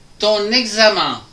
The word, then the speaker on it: ton examen: Après vous avez ton examen entre le N et le E. Ton examen, Ton examen est difficile.